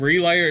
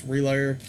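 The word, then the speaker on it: RLYR: I believe you pronounce this band Relayer. It's just R-L-Y-R. And the name of the release is Delayer. So that's what I'm saying. I think it's Relayer.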